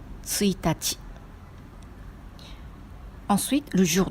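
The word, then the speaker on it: ついたち: Le jour 1 a la prononciation particulière. On dit tsuitachi.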